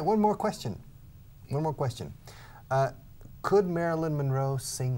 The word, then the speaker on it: Marilyn Monroe: Could Marilyn Monroe sing like an opera star? In my opinion, no, she couldn't. Ask Mercedes if Marilyn Monroe sang in some of her movies.